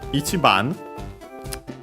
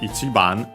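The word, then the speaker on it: 一番: Uh The accent of ichiban is actually uh before the chi.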